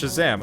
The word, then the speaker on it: Shazzam: It's actually pronounced Shazzam.